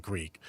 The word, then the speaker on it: Greek: And um I don't know, like when I say my name to a couple people, they always come back with Greg, not Greek.